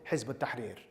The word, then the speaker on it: Hizb ut-Tahrir: And that was the ideological Islamist conversation that led to me joining Hizb ut-Tahrir. That's how you pronounce it.